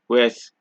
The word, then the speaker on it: ouest: you see in French, you generally don't pronounce D's, P's, S's, T's, or X's. However, there are a few exceptions, just a few, such as sud, cap, slip, fils, bus, brut, ouest, huit.